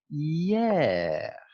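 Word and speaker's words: hier: yeah it's like yeah yes i know it's written with an h but it's not pronounced here which is what's or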